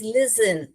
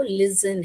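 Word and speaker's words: listen: तो हम एल में लिखे एस एल आई एस फिर क्या आएगा टी ई N wonderful so इट्स लिसन तो साइलेंट में आपको लिसन है राइट तो यहां पर देखिए बेटा इधर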